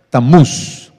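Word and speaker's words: Tamuz: en la historia como tamus o tamus que sería la pronunciación correcta tamus y la Biblia habla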